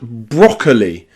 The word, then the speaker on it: broccoli: Like in the word broccoli. In broccoli, there are two O letters. The first is stressed. Bro, bro. But then there's another O that's not stressed. C broccoli. So that second O is awah sound.